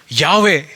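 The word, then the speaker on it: Yahweh: அதற்கு அங்கே வவ்வல்ஸ் அவசியமில்லை எனவே இந்த வார்த்தையினுடைய சரியான உச்சரிப்பு என்ன யாவே என்பதுதான் அதனுடைய சரியான உச்சரிப்பு அது எப்படி நமக்கு தெரியும் அங்கதான் ஒரு வவ்வல்ஸ் ஒண்ணுமே இல்லை எப்படி அது தெரியும்னா இன்றைய எபிரேயர்கள் அப்படித்தான் அதை உச்சரிக்கிறாங்க அது மாத்திரமல்ல இன்னைக்கு நமக்கு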